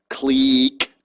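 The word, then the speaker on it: clique: connected click model um this is pronounced click click model and so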